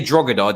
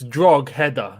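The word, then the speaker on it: Drogheda: so i learned the hard way but it's strongholder yeah you don't pronounce it if you're saying if you say drogod they will rinse you and callum lynch is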